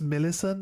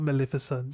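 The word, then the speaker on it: Millicent: Actually, it's Millison, not Maleficent. Sorry, I might have mis I might have mispronounced it.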